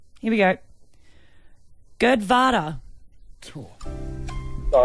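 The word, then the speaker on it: gurdwara: something the diplococcus cozy good vada yep you know the place of worship its GU rd w ara but they decided to turn that W into a V that's good of fun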